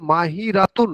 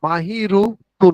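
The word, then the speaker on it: ماهرة: যদি আমি এটা মুয়ান্নাস করি তাহলে মাহিরাতুন না মাহিরুতুন হবে? মাহিরাতুন।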